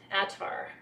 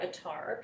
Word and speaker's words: attar: having trouble getting that rose attar or atar people pronounce it differently i'm having trouble getting